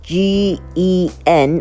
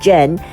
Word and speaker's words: GEN: right, it's spelled as G-E-N. I was tempted to call it Gen, but it's actually from a Chinese word which means root. So I think the more appropriate pronunciation is Gen.